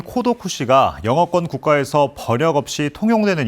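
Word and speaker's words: 孤独死: 사망이 급증하면서 처음 등장했습니다 고독사의 일본어 발음인 코도 쿠시가 영어권 국가에서 버역 없이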